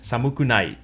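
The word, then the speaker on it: 寒くない: When we look at this word, we know to read it as samukunai, with the first two syllables represented by the kanji, and the others placed after it to show inflection.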